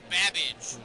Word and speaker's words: Babbage: Your buzzer's the letter B as in Babbage, which is something that rhymes with cabbage.